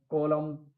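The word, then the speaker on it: column: कॉलम, कॉलम में N silent है।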